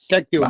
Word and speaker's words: Cacchione: David Cacchione, se pronuncia, ¿verdad? No, si lo pronuncio mal me dices. Sí, por favor, David ¿vale? Cacchione.